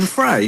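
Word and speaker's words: Frey: having that it's Glenn Fry so I looked it up and the pronunciation is fry despite it being written free anyway an 80s absolute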